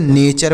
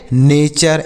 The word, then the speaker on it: NATURE: TURE है, तो अगर TURE एक साथ लिखा रहे तो हम उसे चर पढ़ते हैं। क्या पढ़ते हैं? चर पढ़ते हैं। इसे टूर नहीं पढ़ेंगे, चुर नहीं पढ़ेंगे, चर पढ़ेंगे। यहाँ पर यू का उच्चारण हम ऐसे करेंगे चर के रूप में। तो कैसे पढ़ेंगे? जैसे NATURE, तो इसे नेचर पढ़ेंगे। क्या पढ़ेंगे? नेचर। NATURE, NA से ने, और TURE को हम बताएं चर पढ़ेंगे तो नेचर हो गया।